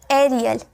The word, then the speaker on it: aerial: AE के बाद R आए तो AE का उच्चारण ए में किया जाता है, एयर, एयर में किया जाता है। जैसे AERIAL, एरियल, एरियल, ए का साउंड आ रहा है ना, एरियल।